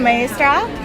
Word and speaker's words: Maestra: So it's the Maestra.